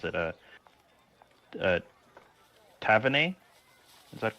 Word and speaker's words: Taevanae: I turn and I look for, correct me if I mispronounce it, Taevanae? Is that correct? Keep the A pronunciation, Taevanae. Taevanae, okay.